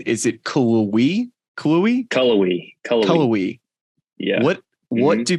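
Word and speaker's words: Cullowhee: loved it all right so how do you pronounce the name of the town in Western Carolina is it cool we Chloe colorway colorway yeah what what do people do for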